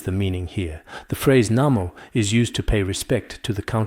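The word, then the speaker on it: 南無: Since it's clearly pronounced Nanwu, why do we say Namo? But as for this Namo, in these days in our Chinese dictionaries, it's almost all pronounced Wu. But in ancient times, this character could also be pronounced Mo, including some modern Minnan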